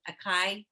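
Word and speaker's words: açaí: Acai?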